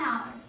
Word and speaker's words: hour: R, so an hour, because H is silent here.